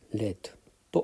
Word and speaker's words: read: も、発音はこれはレッドと発音しますね。